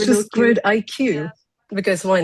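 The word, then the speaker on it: GridIQ: to the presentation today, and that is Team GriddleQ. I hope I pronounced that correctly.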